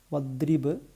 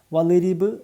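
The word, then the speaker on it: واضرب: നോക്കാം ഇവിടെ നമ്മൾ പറഞ്ഞു ഈ അക്ഷരത്തിന്റെ ഉച്ചാരണം വള്ള് അല്ല വദ്രിബ് ദ് ദാലിന്റെ ഒരു അംശം കൂടി വരണം അപ്പൊ ഇവിടെ വളരിബ് എന്ന് പറയരുത് തെറ്റാണ് വദ്രിബ് വദ്രിബ് ബ എ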